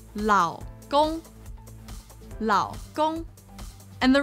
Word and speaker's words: 老公: So it would be lao, lao. So what it would sound like is lao gong, lao gong. And the wrong one, remember, the wrong one is lao gong.